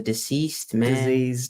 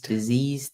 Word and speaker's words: diseased: man has his symptoms so this word here you're pronouncing as deceased but deceased the difference between diseased and deceased is twofold deceased as deceased deceased rather than diseased so it's d e rather than d i the other thing is